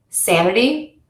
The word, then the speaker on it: sanity: And you're going to stress the syllable to before the suffix in words ending in c, t, phi, g, all, eyes, and ate. Sanity, critical, advertise, communicate.